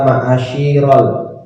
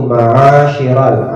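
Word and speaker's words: معاشر: masuk diisi ada kata maasyirol Apa tadi yang jelasnya maasyirol di sit ya jadi bacanya di situ maasyiral ainnya yang yang panjang maasyiral muslimin kemudian yang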